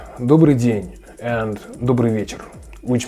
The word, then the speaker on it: добрый: be really tricky because what I hear is foreign people just make the e sound. Yeah, добрый. No, instead there are two sounds. First one is I don't know how to spell that correctly. And the last one is y. So together it's like добрый.